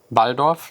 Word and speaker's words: Waldorf: this right here is by valdorf that's how you pronounce it in german iridium a synthesizer that